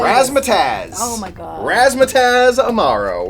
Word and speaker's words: Razzmatazz: Razzmatazz.